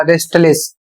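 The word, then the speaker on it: restless: और इसे पढ़ा जाएगा रेस्टलिस। यहां पर भी यहां पर एस का उच्चारण किया जाएगा और टी का उच्चारण किया जाएगा।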